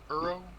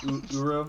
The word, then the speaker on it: Uro: Euro? How is that one pronounced? Uro.